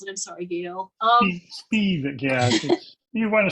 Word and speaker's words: Spivak: I can never remember how to pronounce it. I'm sorry, Gail. Spivak, yeah.